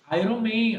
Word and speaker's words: Iron: Iron Man. A pronúncia não é iron. A pronúncia é iron. Iron. Repete comigo. Iron. I, Não, isso. Vamos lá, por partes. I, I, earn.